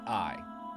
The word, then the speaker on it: AI: eyes the somnium files and yes that is pronounced AI in this game it will make more sense